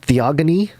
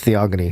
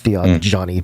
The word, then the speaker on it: Theogony: it was recorded in hezeod's theogony is that how you say it i think it's theogony not theo johnny but um and in